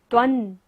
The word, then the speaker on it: त्वं: त्वन, बिंदी के बाद क्या है? स, तो बिंदी का उच्चारण क्या होगा? न।